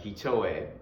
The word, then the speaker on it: Hitoe: with modern twists like Hitoe, or you might pronounce it as Hito. It's H-I-T-O-E, H-I-T-O-E, so you might pronounce it Hito, or Tabi Rila.